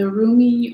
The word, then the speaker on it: Rumi: uncle card is from the roomie or remy depending on how you pronounce the oracle deck by elena fairchild and so rumi that's the way i like to say it he was a 13th